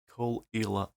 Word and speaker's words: Caol Ila: is a trans week right here this is kalila 12 yes that is how you pronounce it kalila 12 i heard plenty people say kalila 12 but it's actually kalila Kol Lila 12 it is a malt from ila again